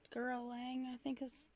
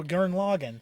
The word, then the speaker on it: Gurren Lagann: I think Gurren Lang, I can't remember how it's pronounced. One with Yoko in it. Oh, Gurren Lagann.